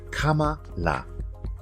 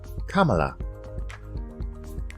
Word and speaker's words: Kamala: with pronouncing her name it's actually quite easy Kamala Kamala repeat after me Kamala